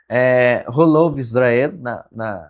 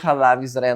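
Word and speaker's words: חלב ישראל: E aí tem linhas de observância ultra-ortodoxas que só consumem leite Holov Israel, na forma ashkenazi de pronunciar, ou Halav Israel na forma sefaradi.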